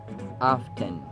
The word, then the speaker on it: often: his visitors gregarious often often how often do pronounced often as often while either of the two is Actually acceptable or is used in American pronunciation often often yada yada